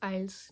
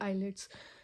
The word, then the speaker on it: IELTS: First of all, what is आइल्स? कई लोग बोलते हैं आइल्स और कई लोग बोलते हैं आइलेट्स। इट्स depend upon the pronunciation, आप कौन सी मतलब बोलना पसंद कर रहे हो, आइल्स और आइलेट्स एंड एनीथिंग एल्स।